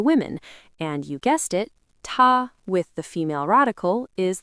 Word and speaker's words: 她: They're both pronounced ta. They're homophones, but they're not the same.